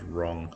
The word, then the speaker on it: wrong: And wrong, silent W. So W-R-O-N-G for wrong.